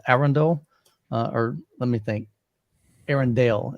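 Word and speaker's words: Arendal: or let me think Aaron Dale is how they pronounce it I even asked him I'm like Hey how do you there's like this debate on is it a Rendell and he was like it's actually Arendelle I went okay cool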